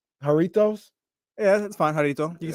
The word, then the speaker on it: Jarritos: Jarritos.